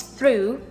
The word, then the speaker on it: through: This one is cough, this one is through, this one is though, and this one is tough. Learn pronunciation so you know the system of all